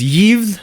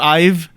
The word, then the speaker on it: Yves: I do want to point out, this is Yves that's going to the Americas. It's not Ive.